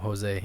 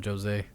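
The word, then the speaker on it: José: watching him the wc they called him jose and they never corrected anybody and now they call him jose so um i guess portuguese way to pronounce that um so uh jose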